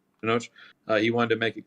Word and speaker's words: Tenoch: about apparently like the actor, how do you pronounce his name? I want to make sure I have it right. Tenoch? Tenoch? Yeah, Tenoch. Tenoch.